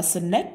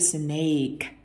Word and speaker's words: snake: Một số từ như travel hay là snake, không ai đọc là snake cả, nó âm A, snake.